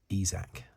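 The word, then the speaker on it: Isack: Isaac, the correct pronunciation, isn't it?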